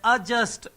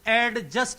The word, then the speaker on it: adjust: अगला नेक्स्ट है ADJUST का ट्रांसक्रिप्शन आपसे पूछा है, इसका आंसर है अजस्ट। एडजस्ट नहीं बोलते, क्योंकि जिनके बीच में DG या DJ आता है डी साइलेंट रहता है, तो आंसर है A फॉर एप्पल।